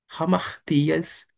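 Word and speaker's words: ἁμαρτίας: E a conjunção e nós temos uma palavra bastante conhecida, eh, aspirada por, é como se tivesse um R na frente ou um H em inglês. Rartias. Ramartias refere-se a pecados.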